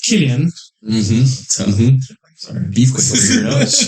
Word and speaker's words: Cillian: It's pronounced Killian.